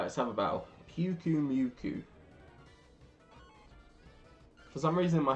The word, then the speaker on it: Pyukumuku: Pyukumuku, Pyukuruka, Pyakawaka, Yeah, die. Get out of here. Ah! Oh, that's right. Pyukumuku. Oh, when you say it like that, it actually kind of makes sense.